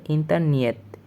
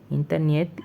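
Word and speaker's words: интернет: এটা রাশিয়ান ভাষায় বলা হবে ইন্টারনিয়েত। ইন্টারনিয়েত একটু মডিফাই করে ইন্টারনেটকে ওরা বলে ইন্টারনিয়েত।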